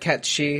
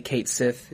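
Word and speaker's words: Cait Sith: And I know that Catchy is the right way to say it, but I'm still going to say Kate Sith just because I'm a moron whose brain hasn't quite left 1997.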